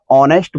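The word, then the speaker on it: honest: जो दे रखा है इसका जब उच्चारण करेंगे तो एच साइलेंट रहेगा अर्थात हमें उसमें एच का उच्चारण नहीं करना है क्या पढ़ना है इसे ऑनेस्ट पढ़ते हैं और ऑनेस्ट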